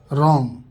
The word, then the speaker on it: wrong: डब्लू, अगर किसी शब्द की शुरुआत में डब्लू हो और उसके बाद आर हो तो डब्लू साइलेंट होता है। एग्जाम्पल देखिए, रॉन्ग, गलत।